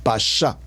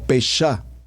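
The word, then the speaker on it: pashat: pasá por favor como está escrito como lo pronuncio p a s h a t pasá la palabra pasá por favor escríbala aquí en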